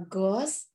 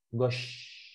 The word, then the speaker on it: gauche: Nah, kayak gini nih, kalau di bahasa Indonesia gini, Gosh. Gosi itu bacanya. Bu, enggak, jangan baca bahasa Inggris. Ini sh. Pakai H ya, gosh gitu. Pakai gosh, betul.